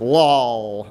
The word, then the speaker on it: LwLL: chose learning with less labels or as it's pronounced Lal so just so that you have a sense